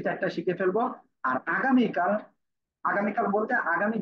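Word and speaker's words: ف: সবাই দ্রুত মুখস্থ করে ফেলেন। নিচের ঠোঁটের পেট, সামনে উপরের দুই দাঁতের আগার সাথে লাগিয়ে হালকা বাতাস বের করে উচ্চারণ করতে হবে।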